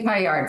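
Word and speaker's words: paillard: you about the chicken Payard first of all first of all the word Payard is French and so it's officially a payar because let that D sort of hang and not get pronounced but those of us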